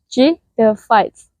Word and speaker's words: pteridophytes: shall we the word J the fights are pronounced J the fights it is a vascular plant that reproduce using